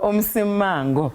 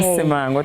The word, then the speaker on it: Msimango: Say it for me and the people at home because wow. Msimango. Okay. Msimango, thank you.